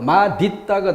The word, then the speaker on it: 맛있다: 그런데 한 단계에서 바로 연음을 시켜버리는 대표음 디귿으로 넘어가면 뭐가 돼요? 마디따가 되죠. 마디따. 그런데 맛있다도 허용한다.